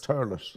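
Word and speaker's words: Thurles: Turles. Pronounce it T-U-R-L-I-S. Turles. Right. Okay. We don't do our THs.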